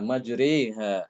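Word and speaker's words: مجراها: Hafiz ya majriha ya. Majriha itu imalahnya di situ aja, cuma satu aja.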